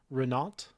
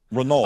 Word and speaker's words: Renault: Renault. Renault. I don't think you pronounce the T.